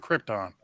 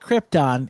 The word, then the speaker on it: Krypton: that they wear on Krypton. It's the reflective 3M material. They use the same stuff for lightsabers. First off, it's not Krypton, it's Krypton. Second, right, whatever.